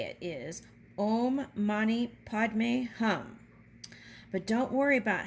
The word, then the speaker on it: Om Mani Padme Hum: The mantra and how to say it is Om Mani Padme Hum.